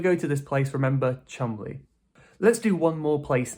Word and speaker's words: Cholmondeley: This is pronounced Cholmondeley, Cholmondeley Nope. It's pronounced "chumlee". Chumlee. I think we're missing about 90% of the letters in this word, right?